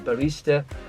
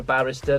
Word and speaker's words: barista: So numerous different bit jobs in bar work, in a barista. Not a barrister, that's a barista, that's somebody that makes coffees, just in case you thought I mispronounced it.